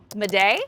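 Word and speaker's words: m'aidez: So Mayday is actually in reference to a French word, and I'm probably going to mispronounce it slightly here, miday, which means help me.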